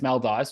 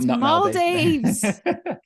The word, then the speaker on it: Maldives: So, well, it's Maldives first of all, not Maldives.